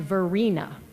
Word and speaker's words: Varina: Davis first of all her name is pronounced Verina rhymes with Marina she spelled it phonetically